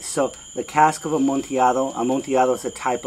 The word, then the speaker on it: Amontillado: life oh and it's some people will say amontillado and that's because they don't read spanish but it's amontillado all right so the cask of amontillado a montiado is a